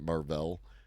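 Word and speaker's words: Marvell: of the group sorry when I see two L's on the end of it I pronounce it like uh the original uh Captain Marvel from Marvel Comics and it's got a dash in between the r and the V and so I pronounce it Marvel and interest uh in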